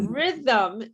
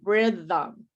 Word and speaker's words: rhythm: say read yeah rhythm now the h is silent okay the h is silent this crazy spelling this